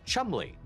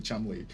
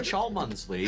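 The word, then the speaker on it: Cholmondeley: Chong oh uh yes despite the way that it looks on the page that name is pronounced Chumley it's a British thing okay I'm just hearing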